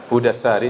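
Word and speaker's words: Hady al-Sari: dari kitab Huda Sari sebagian orang bacanya hadis tetapi yang benar mudah sehari sebagaimana di taskil diberi harakat langsung oleh Ibnu Hajar rahimahullah penulis buku jadi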